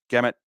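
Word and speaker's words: Gehamat: best work for a lot of people and gamut is how it's pronounced from from Benny horby and I think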